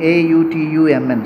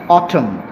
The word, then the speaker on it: autumn: letter is silent in a utu mn so how we pronounce it we pronounce it as autumn autumn so n is silent so 23rd and b